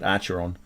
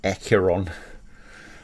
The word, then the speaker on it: Acheron: pronounce it acro and i always pronounce it archeron but it doesn't have an r in the front of it so it's really accuron um and the it's